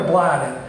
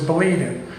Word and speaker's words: Belieden: Was it Belieden or Blyden? And according to what I heard, was Belieden.